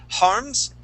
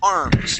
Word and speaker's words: arms: So instead of saying harms with an H sound, we want to say R, arms. Try that.